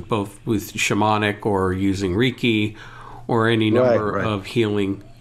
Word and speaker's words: Reiki: I call it Reiki. Yeah. Reiki.